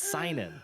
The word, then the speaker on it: seinen: It's seinen. Yes. I never know how to pronounce it.